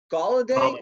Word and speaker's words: Golladay: A lot of people have Kenny Golladay, is that how you say it? Yeah, Kenny Golladay with Detroit.